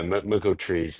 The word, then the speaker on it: Merkle3s: How to pronounce it? Yeah. Yeah. Merco Trees.